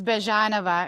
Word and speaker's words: Byezhanova: pronounce your last name correctly, please. It's Bjanova.